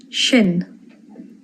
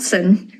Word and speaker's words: sin: Shin. Shin. Not sin.